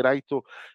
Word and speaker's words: Light: s'appelle light en américain faut savoir que déjà ça colle pas parce que light c'est light ça s'écrit comme en japonais comme lumière donc il l'appelle light c'est le kanji de la lumière c'est tout c'est juste pour ça qu'il s'appelle light sinon c'est lighto mais du coup un